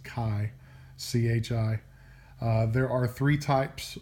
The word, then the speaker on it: chi: 11 it's called chi-square tests it's not called Chi do not listen to mr. Boles he likes calling it Chi but it's pronounced Chi c-h-i there are three types of chi-square tests